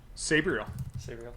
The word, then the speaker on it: Sabriel: you might have to correct me on my pronunciation sabriel yeah that's right sabriel sabriel i'll go with it i'm down with